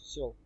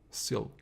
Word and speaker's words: Syl: Are we pronouncing it right? Yes, Syl. Syl.